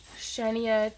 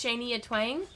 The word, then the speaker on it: Shania Twain: oh I don't know shaniyah twice no no I pronounced it wrong it's Shanee a Twain uh my name is